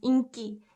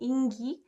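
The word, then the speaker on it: 인기: this one is pronounced this specific word is pronounced inky and if you pronounce it ingi uh not many people will under not many native speakers will understand uh so you have to pronounce it properly and say inky inky popularity and if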